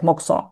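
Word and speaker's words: mokuso: Yeah, if to spell it it's like mo. It's yeah it's spelling like that but we pronounce like moxo.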